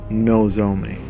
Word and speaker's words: Nozomi: never expressed anything and there it is i pronounce it nozomi because he's always saying no to her here